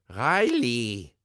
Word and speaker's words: Riley: His name is pronounced Riley. Riley.